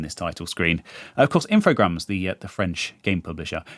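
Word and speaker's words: Infogrames: I'm saying that right I've always said infograms and when I found out that they were French um that kind of cemented it in my mind that that was the correct pronunciation I've heard people say infog graes I don't think that's right I haven't checked this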